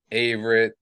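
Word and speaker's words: Averett: jones for example and you know uh here averitt that's how you say his name anthony yeah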